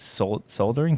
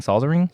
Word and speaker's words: soldering: poor, what is it, soldering? Soldering. Thank you. L is silent.